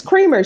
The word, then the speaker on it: Creamer: That's That's the way I said It's Creamer, c r e a m e r. Is that how you pronounce it? It is, Judge. Is it Creamer? I think it's Creamer.